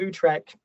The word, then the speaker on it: Utrecht: So the Treaty of Utrecht, how do you pronounce it, Thomas?